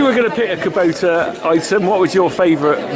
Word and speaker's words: Kubota: Is it Kubota or Kubota? Kubota. I pronounced it wrong, my kids kill me.